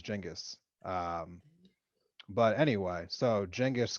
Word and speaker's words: Genghis: you know it's called genghis khan yes yeah okay well i guess the actual pronunciation is jingus um but anyway so